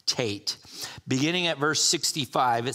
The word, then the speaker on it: Teth: T but it's pronounced Tate uh because that th in Hebrew is always a hard sound you know in English